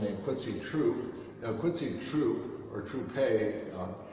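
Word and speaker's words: Trouppe: quincy true now quincy true or troupe he was born with only one p in his name and is pronounced true but uh he played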